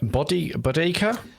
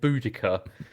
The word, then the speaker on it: Boudica: Queen Bodica? How do you pronounce this? So this is something which annoys me, right? Oh, because it's supposed like everyone now seems to call it Boudica.